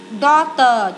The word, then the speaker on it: daughter: Daughter, chữ G hờ này câm.